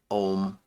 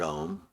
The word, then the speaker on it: Om: And then the M, which is pronounced with like a NG sound. Anyway, goes into silence. And then the last letter of the word Om is actually the silence itself.